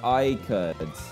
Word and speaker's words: Ricard: Uh Ricard, my last name is pronounced Ri- uh Ri- Ricard. Ricard.